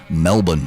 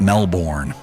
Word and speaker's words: Melbourne: Melbourne, that's how you say it. It's not Melbourne. Don't sound like a Yank over here.